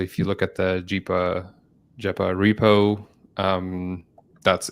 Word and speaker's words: GEPA: say why it's pronounced jeepa and then we can go into what on earth we're talking about, but ja stands for genetic paro. Uh and that's why it's pronounced jeepa because genetic.